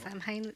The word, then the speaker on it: Samhain: Samhain, it's actually pronounced Samhain.